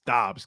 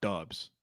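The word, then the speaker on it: Doubs: pronunciation of Romeo Dobbs it's Dobbs Kyle not dubs dude no we've gone back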